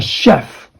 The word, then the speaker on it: chef: Okay, CH is not pronounced as ch. Okay, not CH sound. It should be like the SH sound. So sh, a chef.